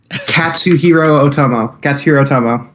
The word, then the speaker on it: Katsuhiro Otomo: Well, the two films I brought today are Akira, the 1988 film by, I can never pronounce his name right, Katsuhiro Otomo.